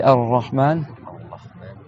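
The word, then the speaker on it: الرحمن: C'est-à-dire que si tu veux faire un ra, et tu fais avec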